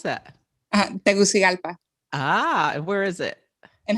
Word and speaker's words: Tegucigalpa: GALPI? PA, as in apple. How do you pronounce that? Tegucigalpa And where is it?